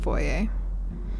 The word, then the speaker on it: foyer: The foyer. Or the foyer. It's pronounced foyer.